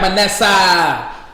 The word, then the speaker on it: Manasseh: the god of manessa you heard my name say it right my nasa he probably was a